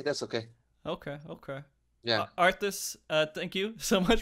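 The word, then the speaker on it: Arthas: and I thought like maybe Frosty was just mispronouncing it no but it is arth okay lot of R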